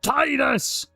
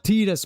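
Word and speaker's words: Tidus: um immersed in this adventure that these guys are having, you know, Tetus. Titus, you mean Titus? Not Tetus, man.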